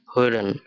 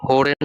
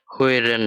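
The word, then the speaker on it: hören: তো এটার উচ্চারণ যদি আমরা করি হা ও umlaut এল এ এন, হইরেন। এখানে ও umlaut এর উচ্চারণটা ও এর মতো, যার কারণে এটা হোরেন না হয়ে হইরেন হয়েছে।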